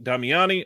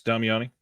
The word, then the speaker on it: Damiani: 2024 is shaping up to be very exciting for us with forthcoming releases, including films by Bava, Buñuel, Comencini, Damiani, Fukasaku.